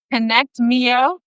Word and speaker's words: ConnectMio: And she is the founder of ConnectMio. Did I pronounce that correctly?